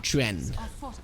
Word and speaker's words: Chuan: Chuan? Or Chuen. That is the proper way to pronounce it.